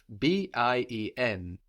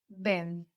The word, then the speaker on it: bien: We know too much about French to pronounce E-N, N. Bien. Bien. Ah, okay. No, we have the N on the end. We're swallowing that into the vowel before, into that E, so it sounds like bien, bien.